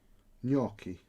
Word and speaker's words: gnocchi: raffle under secret aliases how do you pronounce gnocchi gnocchi you don't say the g wow who's asking that